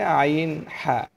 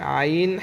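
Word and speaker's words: عين: হলকের মধ্যখান হইতে আইন হা। আমরা প্রথম নম্বর মাখরাজ শিখেছি হলকের শুরু হইতে হামজা হা উচ্চারণ করতে হয়।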